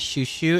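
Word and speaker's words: chuchu: Choo choo, pronounced as shushu, is a Brazilian slang that you can use to refer to someone dear.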